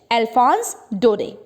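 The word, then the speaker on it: Alphonse Daudet: Actually France के 2 particular districts के बारे में पढ़ेंगे और ये लिखी है एक फ्रेंच राइटर ने जिनका नेम हम प्रोनाउंस करेंगे अकॉर्डिंग टू फ्रेंच, अल्फोंस डोडे.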